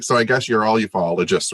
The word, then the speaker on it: ufologist: So, John, first of all, is it a UFOologist or a ufologist? Ufologist. It's neither. It's ufologist.